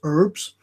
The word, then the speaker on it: herbs: For you Americans, it's herbs. Herbs, because you don't pronounce it correctly, but we do, because there's an H on it.